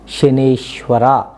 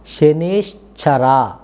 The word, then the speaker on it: ಶನೇಶ್ಚರ: ಇನ್ನೊಂದು ವಿಚಾರ ವೀಕ್ಷಕರೇ, ನೀವು ಮಂತ್ರ ಉಚ್ಚಾರಣೆ ಮಾಡಬೇಕಾದ್ರೆ ಎಲ್ಲರೂ ಸಾಮಾನ್ಯವಾಗಿ ಶನೇಶ್ವರ ಅಂತ ಉಚ್ಚಾರಣೆ ಮಾಡ್ತೀವಿ, ಏನು ಮಾತನಾಡೋ ಬರದಲ್ಲಿ. ಆದರೆ ಈ ಬೀಜಾಕ್ಷರಗಳನ್ನ ಹೇಳೋ ಸಮಯದಲ್ಲಿ ಶನೇಶ್ವರ ಅಲ್ಲ, ಶನೇಶ್ಚರ ಚ ಬರುತ್ತೆ, ಶನೇಶ್ಚರ ಬಳಸಬೇಕು. ಇದೊಂದು ಜ್ಞಾಪಕದಲ್ಲಿಟ್ಕೊಂಡು ಬೀಜಾಕ್ಷರಗಳನ್ನ ಸ್ಪಷ್ಟವಾಗಿ ಹೇಳಿ.